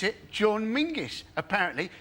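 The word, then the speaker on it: Menzies: In fact, you should pronounce it John Mingus.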